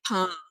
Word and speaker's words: pain: Les pains. Yeah, because you have the vowel, the I, and then you have an N, and then it's pain, because the I gets nasal and the N is not pronounced.